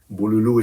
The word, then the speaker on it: Bululu: Bululu is just a terminology with an accent on the U.